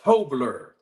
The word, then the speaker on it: Tobler: strength and conditioning coach and trainer tobler tobler have to pronounce it correctly absolutely thank you for being